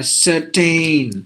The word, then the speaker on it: certain: those kind of words letter I is actually silent but we tend to pronounce that I also like Captain some some of us Britain Mountain Fountain uh certain look at the word